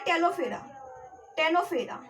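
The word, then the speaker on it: Ctenophora: इसके बाद आता है टेनोफेरा। यहाँ पर भी सी साइलेंट है।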